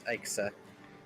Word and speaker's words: Ixa: By the way, I found a pronunciation. It's Ixa.